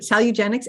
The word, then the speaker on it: Salugenex: So she's created a program called Salugenex. Am I pronouncing that correctly? You are. That's it. Okay, great. Salugenex.